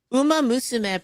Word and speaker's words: Uma Musume: Uma musume pretty derby.